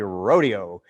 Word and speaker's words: Rodeo: Now, we kind of pronounce it rodeo. I think that's the fancy way to pronounce it, but it's really rodeo.